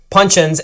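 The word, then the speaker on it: puncheon: Rested an additional 9 months in 600 L Pino Day Shanti punchins and bottled at 100proof.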